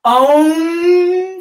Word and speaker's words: Om: Om, you'll notice that when I pronounce Om, I'll stretch out all 5 of the vowel sounds.